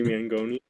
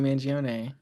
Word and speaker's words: Mangione: In reference to Luigi Mangoni. Everybody loves Luigi Mangione. Oh, I said his last name wrong, but it's okay.